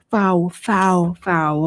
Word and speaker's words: PHOW: Is Power pronounced that? Foul.